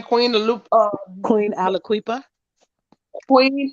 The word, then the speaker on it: Aliquippa: How do you pronounce her name? Queen Queen Aliquipa. Queen Aliquippa.